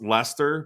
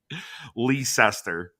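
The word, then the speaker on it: Leicester: in England you know how they would pronounce Lester because they are so stupid over here Lee sester oh Lord yeah dude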